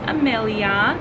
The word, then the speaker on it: Amelia: And her name is Amelia. We wanted a name that started with A, so it rhymes with Adeline.